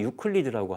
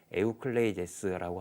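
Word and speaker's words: Εὐκλείδης: 그 고대 그리스 기하학의 어떻게 보면은 제 최고봉이 에우클레이데스, 우리가 흔히 유클리드라고 하거든요. 근데 유클리드는 이제 영국식 영어식 발음이고요. 그래서 원래는 에우클레이데스라고 하는 게 맞습니다.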